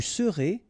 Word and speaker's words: serez: Je serai, tu seras, final S not pronounced, il sera, elle sera, nous serons, final S not pronounced, vous serez, a Z at the end, et serez, ils seront, final T not pronounced, elles seront.